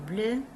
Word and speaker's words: bleue: La robe est bleue. Before it didn't have the E. Now we have the E. Le pantalon est bleu. La robe est bleue. Sounds the same.